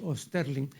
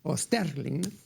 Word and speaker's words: Osterling: Páginas del viejo armario de Felipe Osterling. Yo, al pronunciar el apellido, me acomodo al uso imperante aquí en el Perú, ¿no? Pero en realidad es Osterling, ¿no?